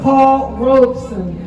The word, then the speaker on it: Paul Robeson: And I emphasize that because many people mispronounce it, but it is Paul Robeson.